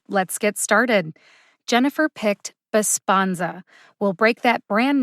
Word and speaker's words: Besponsa: second here we go bisponza b-e-s-p-o-n-s-a bosponza baspanza has three syllables like most three-syllable brand name drugs this one's pretty straightforward but let's say you